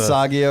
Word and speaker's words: Balenciaga: of the- Balenciaga, whoever that company is, for Balenciaga.